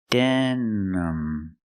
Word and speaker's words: denim: it's pronounced denim denim I use the schah sound for the second syllable it's not stressed use the sound uh uhuh relax sound uhuh denm denim denim you can